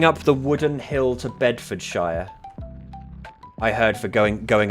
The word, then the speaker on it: Bedfordshire: Now, obviously I'm saying Bedford Shire for the Americans in my audience. I would obviously, as an English person, say Bedfordshire. But to an American, I've got to say Bedford Shire like I say Yorkshshire when in fact every fiber of my being wants to just say Yorkshire.